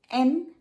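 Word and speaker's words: へ: ए particle क्या है और ये क्या करता है। सबसे पहले तो ए पार्टिकल हिरागाना का हे है, HE, लेकिन जब ये पार्टिकल बनता है तो इसका प्रोनाउंसिएशन होता है ए।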